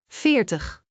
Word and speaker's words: veertig: Veertig .